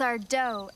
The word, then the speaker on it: Sardo: black was powerful and Sardo was a fake that's our doe accent on the dough haha great story here's